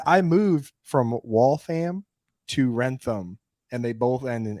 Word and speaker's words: Wrentham: here live coming at you from is it pronounced Wrentham Massachusetts yes when you get to that's the